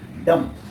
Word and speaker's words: dumb: एज for example से यहाँ देख सकते हैं, यहाँ लिखा हुआ है DUMB, डम। क्या बोलते हैं इसको? डम। डम मीन्स होता है गूंगा। ठीक है, इसका उच्चारण डम होता है, इसका उच्चारण डम्ब नहीं करते हैं।